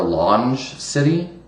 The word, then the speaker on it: LongeCity: You can also search for Longe City, I think is how you pronounce it, LONGECITY, which is, an old school forum over the last 20 years or so on the internet.